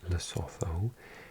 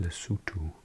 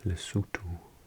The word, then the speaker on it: Lesotho: This is not Lesotho. It's pronounced Lesotho with an ooh and a tuh. Lesotho.